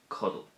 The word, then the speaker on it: codail: a particular focus on the Irish verb cuddle, which is to sleep, cuddle. If we look at this verb, we'll see that it has two syllables and it ends in A-I-L.